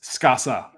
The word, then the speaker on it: Skaza: Your name is spelled this, but it is pronounced Skaza. Yeah. Drop the Z and make it another S. Skasa. Sa. So guys, pretend that Z is an S, and we got Skasa.